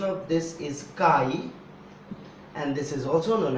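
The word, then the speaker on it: χ: And one more constant, and this constant is called, first of all, pronunciation of this is chi, and this is also known as electric susceptibility.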